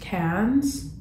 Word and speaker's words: Cairns: I want to say this is pronounced Cairns. I hope I am saying it correctly.